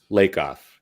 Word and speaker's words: Lakov: good man good hey do we pronounce your last name lakov or lake off lake off yeah awesome looks like black off pronounced like lake off all right i just